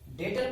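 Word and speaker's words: debtor: डेटर को आप B silent रहता है, आप बहुत बच्चे बोलते हैं डेब्टर बोलते हैं, पर उसको डेटर बोला जाता है।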